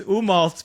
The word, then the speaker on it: Umault: screwing up the okay it's umal but it's spelled umal so u m a u l I actually found your